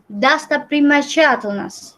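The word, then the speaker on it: достопримечательность: Ini contohnya O dibacanya jadi A. Terus tadi yang me harusnya dibaca me jadi mi. Terus ini E dibacanya I lagi. Terus ini O dibacanya A lagi.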